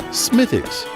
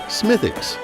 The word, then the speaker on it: Smithwick's: of Irish craftsmanship smiix really mispronounced a lot of the time is locally pronounced as such smicks or smicks the story of smicks